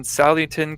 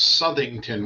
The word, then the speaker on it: Southington: also owner of hemlock hills rv sales in sallington connecticut did i get that right chris yeah pretty close it's everybody uh it's southington which is your pronunciation for the way it's